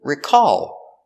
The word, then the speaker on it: recall: on that car and the verb is recall with the stress on the second syllable recall is the same